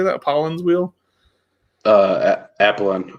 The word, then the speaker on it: Apollon: Apollon. I think there's an N at the end, isn't there?